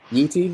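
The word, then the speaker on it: Yi Ti: Yeti? Is that how you pronounce it? Okay. Yeah, Yeti.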